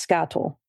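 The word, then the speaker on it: skatole: And it's pronounced scattleal. Like spa. And the second half is toll because I asked.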